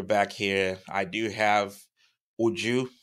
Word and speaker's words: Uju: on but we're back here I do have ujju right that's the right pronunciation of your name yes like you have